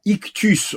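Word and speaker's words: ἰχθύς: le mot poisson et le mot grec ictus il se prononce donc ictus en grec c'est le mot normal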